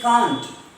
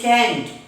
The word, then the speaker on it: can't: CAN apostrophe T is can't. In British English, it is can't. It's can't. And in American English, it's can't. Can't.